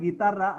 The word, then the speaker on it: guitarra: How did you read the word guitarra? Guitarra. G plus U was pronounced as G, taken as G as a whole.